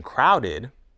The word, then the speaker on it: crowded: In crowded, the ed ending comes after the sound d. So again, we pronounce the ending id.